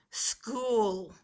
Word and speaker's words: school: at the SCH if you notice the CH digraph is at the end the S that blends with it is at the front but it's still even though the S is at the front the CH digraph still makes the K sound so the first word